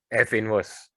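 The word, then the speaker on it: f⁻¹: This is not f raised to minus 1. It is pronounced as f inverse.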